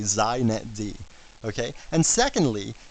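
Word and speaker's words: xinetd: a couple things first it's pronounced zet D so if you want to be hip you say zet D okay and secondly it's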